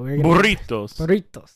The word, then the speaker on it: burritos: Burritos. Roll your R's.